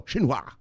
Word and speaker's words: Xinhua: okay you see an X right yeah it's pronounced Shh so the president of China is named with Xi Jinping right XI so this is Xinhua all right [ __